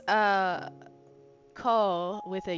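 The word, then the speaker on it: 口: And we learned that mouth is pronounced co with a U extending the O. So it's a radical mouth. That's funny, Mina. Um, so since it's uh co with a U extending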